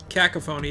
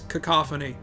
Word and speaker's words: cacophony: Just like, Mom, it's not cacophony, it's cacophony.